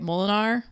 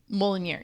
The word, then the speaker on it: Mjolnir: And then it goes into the whole, where's, was it Molinar? I never say it right. Molinar, the hammer? Mjolnir, yeah.